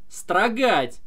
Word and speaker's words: строгать: Например, думать, строгать. Ать-ать, заканчивается на ать-ать, понимаете? То есть, вот у нас два глагола. Думать, строгать. Думать на у падает ударение, а строгать на а.